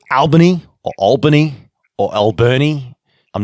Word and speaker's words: Albany: And Albany is the answer to your question.